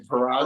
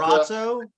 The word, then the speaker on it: Peraza: Diana Peraza. I don't know how to say her last name. Peraza. Razzo? No, Peraza.